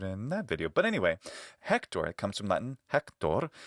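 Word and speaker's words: Héctor: For example, spelled practically the same way, this name is pronounced Hector in Spanish, right? Hector. You may even know an Hector in Spanish. It's not Hector, like you might think it would be.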